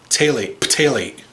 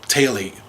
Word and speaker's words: phthalate: Examples include diethyl phthalate. It's with a P, I think, but I think the PH is silent. Diethyl phthalate, a chemical found in